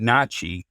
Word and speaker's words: NACHI: And I pronounce it NACHI, the National Association of Certified Home Inspectors.